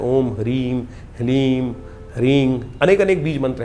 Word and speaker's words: ह्लीम: बीज मंत्र है, ओम ह्लीम। ह के पैर में र है, फिर उसमें साथ ही में ल लगा हुआ है और ऊपर से बड़ी की मात्रा बिंदी, ओम ह्लीम।